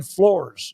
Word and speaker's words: Flores: Tracy Fisher said that, by the way, the quarterback, Zane Flores, is how they say his last name. Flores, okay. not Flores, as it's spelled.